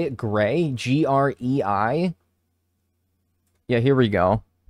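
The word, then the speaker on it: Grei: Gray? G-R-E-I? Yeah, here we go. Hi, Gray!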